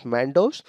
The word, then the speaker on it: Mandous: is given by United Arab Emirates it is mandus pronounced as Mandos so basically this was named by United Arab